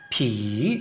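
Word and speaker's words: ผี: 만약에 이렇게 하면 발음은 비.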